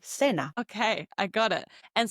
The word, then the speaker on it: cena: previous episode, cena, dinner, they might pronounce it like cena, for example, cena, in some regions like in Madrid, while in Latin America, the same C is pronounced like an S, as we learned in the previous episode. So it would be cena.